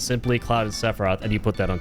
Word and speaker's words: Sephiroth: Kind of a fucked name to like pronounce. Sephiroth.